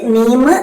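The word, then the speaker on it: ميم: 2 ചുണ്ടുകളും ചേർത്ത് വെച്ച് മീം, ബാ ഉച്ചരിക്കാം.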